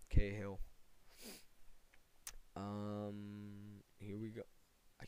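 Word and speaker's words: Cahill: not we get K kahill that's how you say his name K Hill um here we go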